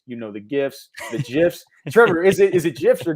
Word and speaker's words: GIF: I pronounce the G like it's a hard G for me, so I think it's GIF.